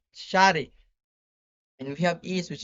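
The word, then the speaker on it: شارع: We have street, which is pronounced Shari.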